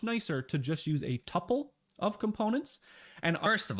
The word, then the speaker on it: tuple: to just use a tuple of components and first of all it should be pronounced Tuple second I am a